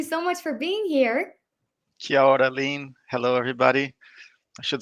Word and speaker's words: kia ora: Kuera? Is that how you say it? It's kia ora, kia ora.